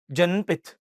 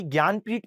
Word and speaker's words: ज्ञानपीठ: तो बच्चे इसको क्या पढ़ते हैं पता है? जननपथ इंग्लिश वाले। बेटा ये जनपथ नहीं है। बेसिकली ज्ञानपीठ पुरस्कार है।